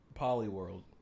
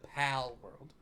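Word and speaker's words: Palworld: Well, let me stop you there because we're gonna say something about Polyworld. Did I say it right? No, Pal World.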